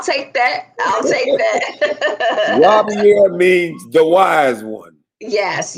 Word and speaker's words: Robiar: So it's Robiar. It's Arabic. Robiar.